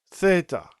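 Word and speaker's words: θῆτα: It's similar to the th in the sound think. And um it doesn't have any voice to it. So it's not the as in with the but it's just th meaning do thorax thorax which is your breastplate.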